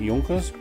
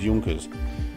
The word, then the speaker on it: Junkers: I think that's the right way to pronounce it. Junkers or Junkers. I think it's Junkers.